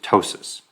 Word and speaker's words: ptosis: droopy eyelid that's called ptosis you don't pronounce the P it's just ptosis and also since you